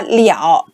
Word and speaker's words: 了: นี้ สิ่ง สำคัญ คือ มัน อ่าน ว่า เลอะ ได้ แล้ว มัน ก็ อ่าน ว่า เกลี่ยว ได้ นะ คะ เหลี่ยว นะ คะ คะ เดี๋ยว ตัว นี้